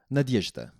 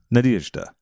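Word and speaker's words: Надежда: uh-huh okay East 8th it's three syllables nod nod yesh yeesh dah dah Nadezhda Nadezhda perfect ah Nadezhda instead Nadezhda Mandelstam was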